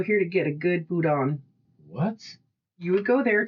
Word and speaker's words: boudin: You would go here to get a good boudin. What? You would go there to eat a good boudin. Or maybe Boudin. Boudin, there you go.